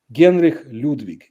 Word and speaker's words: Genri Ludvik: was able to travel Genri Ludvik is the Russian pronunciation of his name.